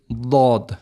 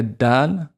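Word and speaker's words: ض: But in short, you have the back side of your tongue at the back. Some people use both sides at the back. Some say you can use one side, and that touches the back teeth at the top and pronounces that. There's like air gets filled in the back of the mouth, and you say Lod, right?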